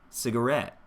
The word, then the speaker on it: cigarette: Cigarette, cigarette. There I'm using space for the last syllable. Cigarette. The first 2 syllables, very little space.